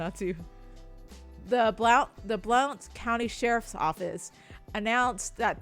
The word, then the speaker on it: Blount: How are you pronouncing that county? Blunt. Blunt county. Blunt. Blunt county. Blunt. Is the O silent?